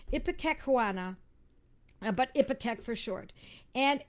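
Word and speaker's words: ipecacuanha: ipac so it's um ipa kakuana excuse me i've mispronounced it ipika kawana but ipatek for short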